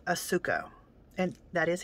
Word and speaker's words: Asuka: crazy this is a little japanese company called asuko and that is how you say it no